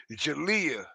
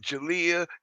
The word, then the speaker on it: Jaaliyah: and his family now years ago now right Jalia that's how it's pronounced Jalia jalah okay okay CJ's 12year old asked to